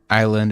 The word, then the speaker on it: island: Island is pronounced as island or island. It's and yeah. Okay, I'm used to okay. I'm used to mute letters that you don't pronounce in French. But like we don't have a random letter in the middle.